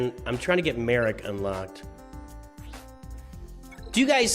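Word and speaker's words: Marrok: Maroc does not sound, I don't think it sounds right either. I don't think it sounds right either. It's Merrick. It's Merrick.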